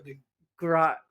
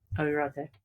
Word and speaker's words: Agrate: Marco de Grate. That was close. Agrate.